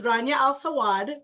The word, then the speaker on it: Rania Al Sawad: So this is Rania Al Sawad.